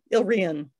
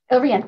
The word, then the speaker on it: Ile-Rien: the, oh Martha, I'm afraid I'm going to pronounce that one incorrectly. That's okay. The Ilrien trilogy? Yeah, Ilrien. Ilrien, thank you.